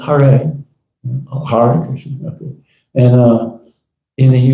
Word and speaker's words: Hare: Chant 16 rounds of Hare Krishna, Hare." It's pronounced Hare.